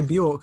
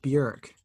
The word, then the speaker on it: Björk: Except an umlaut, which you're meant to say with an umlaut. You're meant to say the letter like there's an E after it. Björk. Yeah, that's the thing. Yeah, we say Björk, but her name is pronounced Björk.